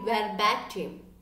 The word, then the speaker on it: verbatim: Next word, this is a good vocabulary, verbatim. Verbatim. Verbatim. You can see over here, it's like bay. And the R is silent.